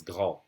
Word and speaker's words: grand: So here, the D would be pronounced like a T when you do a liaison. So it would be un grand enfant, a big child.